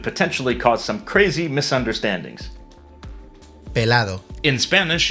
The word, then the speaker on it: pelado: they don't pronounce the ending in Portuguese. They say pelad.